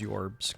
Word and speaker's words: JORBS: Pronounce JORBS as yorbs.